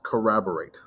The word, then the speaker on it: corroborate: write it down it's corroborate now corroborate corroborate corroborate say it over and over again crab or rate just as it reads you got to almost say every single syllable and since this is